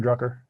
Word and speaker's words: Drucker: said you guys learned a lot from Peter Drucker whoa is that how you pronounce his name Peter druggie yeah Drucker yeah